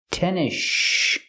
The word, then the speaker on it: tennis shoes: talk about tennis shoes we don't say tennis shoes the S is silent and you link to the next sound the sh sound in shoes so you hear tennish tennis shoes he was wearing Converse